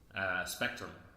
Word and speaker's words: SPCTRVM: Spelled a weird way though. How do you spell it? SPCTRVM. SPCTRVM? Yes. Okay. So it like kind of looks like it on a page, but technically doesn't spell it.